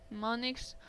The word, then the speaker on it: mnemonics: Mnemonics, the initial M is silent, are clues of any